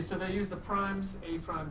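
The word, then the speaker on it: A′: That is pronounced A prime, apostrophe.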